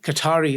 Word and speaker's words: Qatar: I'm a little bit more Qatari at the moment because obviously I just had a shower and everything. And that makes a difference. It's actually pronounced Qatar, but yeah, go on.